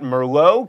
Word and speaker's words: Merlot: Then you've got Merlot, keep that T silent, and caramel.